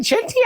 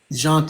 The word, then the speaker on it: Jeanty: Genty, is it Genty or Jonty? You could pronounce it either way. How do you pronounce it? Jonty, because I'm Creole.